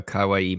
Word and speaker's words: kawaii: I saved the best for last because I know you're a kawaii master.